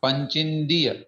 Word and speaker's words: पंचिंदिय: हाँ इधर आ, यह अंत में आ की साउंड आए, और इधर जो है पंचिन, हाँ पंचिंदीय, उसमें ची के बाद में बिंदी है तो उसका भी नकार के रूप में उच्चारण करेंगे, पंचिंदीय।